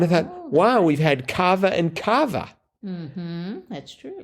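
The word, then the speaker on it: Kava: effects and it was Cava yes I I'm guessing that's how you pronounce it it could be ca or Cava I think it was Cav k a v a I think it's Cava but just the other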